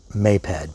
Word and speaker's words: Maped: My temptation is to pronounce this may-ped because if it were no, it would be a long o like moped, a little motorized bicycle popular among the youth.